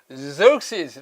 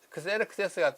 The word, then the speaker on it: Xerxes: 영어로 읽으면 Xerxes 이렇게 했는데, 이건 영어 아니니까 크세르크세스가 더 온 발음에 가깝습니다.